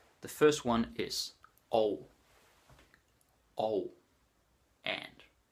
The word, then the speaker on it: og: Og. And. Og, spelled OG, pronounced og.